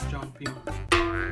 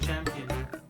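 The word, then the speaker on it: Cheongpyeong: It's pronounced as Changpyeong. It's exactly what I said. No, you said champion.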